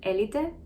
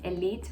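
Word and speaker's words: Élite: For confusion, I'm gonna call it Elite because it's a Spanish show and that's how you pronounce it in Spanish, so Elite. I know many people who speak English call it elite, but the correct pronunciation is Elite.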